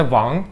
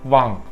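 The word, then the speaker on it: 王: Mesela az önce verdiğim örneklerde Wang, kral demek, ikinci ton mesela, yükselen. Ama Korece'de Wang, herhangi bir ton falan yok.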